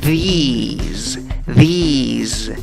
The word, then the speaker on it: these: Esta, la número 2, tiene una I larga y acaba en Z, aunque se escribe con S. These.